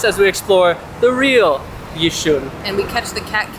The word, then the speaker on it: Yishun: How do you say it? Yishun. Yishun, so you don't pronounce the Y. Yeah, so the Y is silent. So what is the reputation that Yishun has?